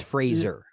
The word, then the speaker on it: Fraser: I I like Brenan Frasier in the movie Fraser Fraser everyone pronounces his name wrong he corrected us all it's Fraser okay I gotta I